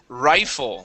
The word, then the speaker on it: rifle: Let's go to rifle. This is a long I sound.